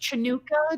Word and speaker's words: Hanukkah: already had Hanukkah and we've already Oh, had the no, it's solstice. pronounced Chinooka, just so you know.